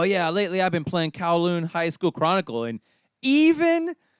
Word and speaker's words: Kowloon: an rpg it's called kowloon i think kowloon is how it's pronounced it's k-o-w-l-o-o-n kowloon high